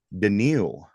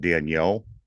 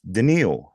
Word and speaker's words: Denil: and see the guy denil is how we pronounce his name Mr Hunter is not Daniel it's not Danielle it's denal denal I like it yeah